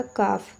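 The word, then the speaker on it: calf: तो देखिए यहां पे एल जो है आपका साइलेंट हो जाता है। तो ये आपका हो जाएगा कफ।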